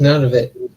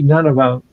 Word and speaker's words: Nunavut: Nunavut. Did I pronounce it, Michael? Nunavut? It's none of it. None of it.